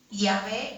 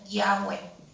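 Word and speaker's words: Yahweh: Aunque es incierta la verdadera pronunciación, es probablemente Yahé o Yahweé.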